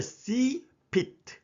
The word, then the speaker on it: CFIT: 이것을 시피트 이렇게 발음하시면 됩니다.